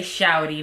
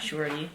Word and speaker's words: Shawty: And you have to say shouty, not shorty.